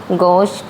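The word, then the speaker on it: gauche: गोश। गोशिया word आता है जी ए यू सी एच की स्पेलिंग याद रखनी है।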